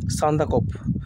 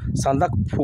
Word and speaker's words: সান্দাকফু: সর্বোচ্চ পরশৃংের নাম হচ্ছে সান্দাকফ সান্দাকফু হবে সান্দাকফু অর্থাৎটা এভাবে লিখবে দন্তস আকার দন্তনে দ আকার কয় হসন্ত আর ভয়সু তাহলে উচ্চারণটা কি হল সান্দাকফু সান্দাকপু হসন্ত এখানে আছে